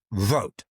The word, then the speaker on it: Vought: And I'd like to focus today on a man named Russell Vought. It's pronounced V-O-T-E. It's spelled V-O-I-G-H-T.